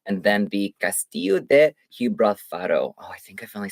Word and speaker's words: Gibralfaro: And then the Castillo de Gibralfaro.